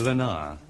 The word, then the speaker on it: Leonard: Lenar. He pronounced it Lenar the French way.